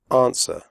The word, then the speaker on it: answer: close the door close answer the W sound is silent answer do not say answer women the O in